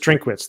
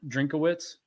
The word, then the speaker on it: Drinkwitz: block drink I think it's just just drink wits there's no middle middle uh syllable oh it's not drink a wits no just drink wits just like his first